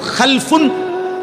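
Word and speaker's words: خَلَف: শুধু উচ্চারণের একটু ভিন্নতা মাঝখানে একটা লাম আছে এই লামটার মধ্যে যদি সাকিন হয় তাইলে হল খালফুন আর যদি লামের মধ্যে জবর হয় তাহলে হল খালাফুন আরবি শব্দ খালফুন মজি লামের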